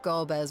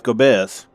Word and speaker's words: Golbez: To free Ashdaya, I expect we will have to deal with Golbez once and for all. That's how it's pronounced? I forgot. I thought it was Gobez.